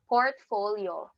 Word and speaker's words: portfolio: So from the syllable from the word port, like seaport, then sounds like fall, like in autumn, and yo, which describes the movement of an airplane, like side to side movement.